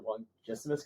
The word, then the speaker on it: longissimus: Not your longissimus column?